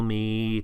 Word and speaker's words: me: example, see me, tell me, help me, then the word is me. Me, same spelling as in English, different pronunciation.